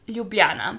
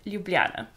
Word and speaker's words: Ljubljana: pronounce it Slovenia and our capital city is Ljubljana it is probably one of the most complicated capital cities to say according to tourists and foreigners who live in Slovenia but yeah we pronounce it Ljubljana continuing with our neighbor